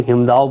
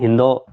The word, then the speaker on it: हिंदो: हिमालय क्षेत्र में हिंदो, हिंदो यहां बोलते हैं, कोई कोई हिमदाव बोलते हैं, लेकिन हिंदो करेक्ट प्रोनाउंसिएशन है, इस हिंदो नामक स्थान पर आकर विसोन पर्वत की तलहटी में अपने आश्रम का निर्माण किया।